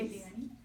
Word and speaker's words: Eliane: Eliane. Pardon me? Eliane. How do you spell that? E-L-I-A-N-E.